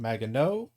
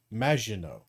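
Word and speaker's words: Maginot: So to correct the record it's not Magnote and it's not Mageno, it's Majino.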